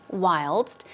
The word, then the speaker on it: whilst: is also an element whilst as I said it's chiefly British okay wild whilst the st is pronounced so it means while